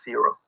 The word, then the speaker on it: Ciro: so much better than me yes yes that's zero and i'll spell it for you guys and i'll be i'll